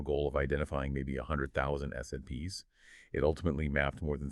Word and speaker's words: SNPs: These single base variations are known as single nucleotide polymorphisms, or SNPs, pronounced SNPs.